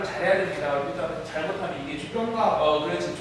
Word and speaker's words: 조병갑: 일단 잘못하면 이게 조병갑. 그렇지. 조가 악센트가 있는 이상해지죠? 그렇죠. 자, 조병갑이 횡포를 부린다.